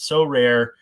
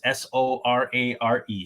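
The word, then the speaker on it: Sorare: this uh second segment so rare is a game that we've been partnered with for a bit here it's spelled exactly like it sounds s-o-r-a-r-e so rare it's a revolutionary fantasy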